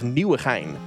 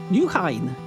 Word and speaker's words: Nieuwegein: I'm going to teach you the pronunciation of Nieuwegein. Nieuwegein.